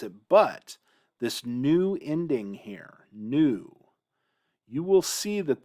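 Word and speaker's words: היא: to remember the difference here but man is this unfortunate because in hebrew this word is pronounced he he just like this it's pronounced the same way he problem is in hebrew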